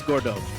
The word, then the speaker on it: Gordeau: Gordeau? Yeah, it's Gordeau.